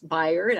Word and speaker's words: Bayard: say is that um I was mispronouncing um the name is Bayern I think I was saying Bayard so my apologies for that